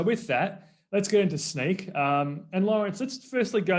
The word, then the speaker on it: Snyk: uh it is pronounced sneak and it stands for so now you know uh think of sneak sneakers some people in europe call it snick but most most most